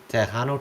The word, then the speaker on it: Tejano: It's Tehano time. Oh, okay. That's not how I spell it, but hey, that's cool.